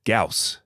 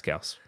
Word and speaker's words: Gyaos: Gaus. Gaus. Gaus. You don't pronounce the Y. It's just figuring this out for you now. It's Gaus.